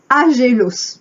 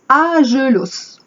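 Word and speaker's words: ἄγγελος: Le mot ange vient du grec agélos. Alors évidemment, j'ai pas fait de grec. Donc, les puristes vont me dire que je prononce mal. Ça s'écrit A-G-G-E-L-O-S. Et en prononçant à la française, agélos, qui signifie messager.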